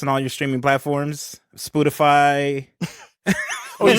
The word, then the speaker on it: Spotify: Spotify. Oh, you said that one incorrectly. Yeah. Spotify? No, I'm actually saying it correctly, if I'm being honest. My bad. It's a long O.